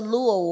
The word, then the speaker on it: Luo: that's a Luo word, and it comes from the Luo tribe or Luo community, and that's in Kenya.